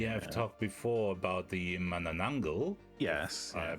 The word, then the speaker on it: Manananggal: episode, because we have talked before about the Manananggal. Yes. I pronounced that correctly, and it's the Manananggal.